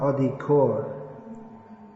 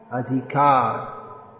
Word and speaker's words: adhikar: yesterday it says no it's not odi core adhikar they picked it up